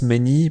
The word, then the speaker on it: menu: Oui, menu se prononce menu, pour les Polonais i est la meilleure approximation du u français.